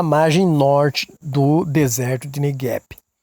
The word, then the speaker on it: Negev: Ela cresceu como um oásis na margem norte do deserto de Negev. Alguns falam Negev, é a pronúncia. Pode falar Negev, que não está errado.